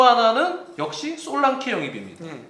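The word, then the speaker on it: Solanke: 솔랑키라고 해야 돼요. 솔랑키. 이름은요. 솔랑케. 네, 솔랑케가 아니고 키. 열쇠 할 때 키 발음 해야 돼.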